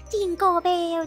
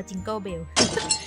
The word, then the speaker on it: Jingle Bells: รู้ แล้ว ว่า มัน ไม่ ได้ ร้อง เพลง ว่า จิงโกเบ มัน อ่าน ว่า จิงเกิลเบล ทิงเกอร์เบลล์ แล้ว ก็ ต้อง เติม s ด้วย นะ jingle jingle jingle ใช่ มั้ย Jingle Bells อย่าง เงี้ย มัน จะ ออก SS หน่อย นึง ด้วย นะ ไม่ น่า